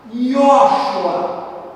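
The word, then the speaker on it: יהושע: Yoshua, é assim que se pronuncia.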